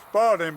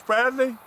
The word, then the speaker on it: Spradley: I always pronounce it Spalding, but it's Spradley. I hope that's right.